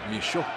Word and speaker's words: Michaud: If Jeff Michaud was a member of the Montreal Impact and playing in Montreal, it would be Jeff Michaud. Michaud would be how you pronounce his name in French.